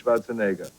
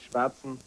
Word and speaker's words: Schwarzenegger: ekka not echo people pronounce it the wrong way here a lot of times it's schwarzenegger which i understand because english things are different